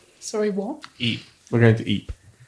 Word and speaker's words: Ypres: We're going to Ypres. It's called Ypres. I don't know. It's spelled like Y-P-E or something like that.